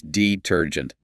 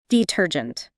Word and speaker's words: detergent: The stress is on the second syllable. It's detergent. Detergent.